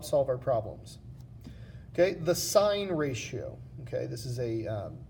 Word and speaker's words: sine: and they stand for sine cosine and tangent that's how we pronounce these words even though you write it just si n we call it sine and then cosine and